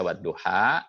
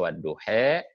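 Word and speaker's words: والضحى: jadi wadduha itu sebabnya Kenapa wadduha itu tidak ditulis pakai alis dia pakai itu alis tetapi alis bengkok supaya bacaan yang lain itu membacanya bisa wadduha bisa wadduhe ada Taklim namanya wadduhe itu semua juga boleh atau nanti kita ditempat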